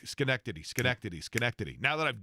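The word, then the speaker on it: Schenectady: Uh, pronounce this the the town name again for me, please. Skenctity.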